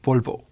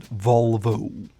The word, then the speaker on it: Volvo: Well, it's the end of the O. The Swedish pronunciation is Volvo. It's a shorter O, and it's not that Volvo. It's just Volvo. Again, not Volvo, but Volvo.